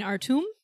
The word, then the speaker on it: Artume: Is there an accent on the E? No. Then it wouldn't be Artume. So if there is an upward accent, which is an accent aigu, that would be the A sound.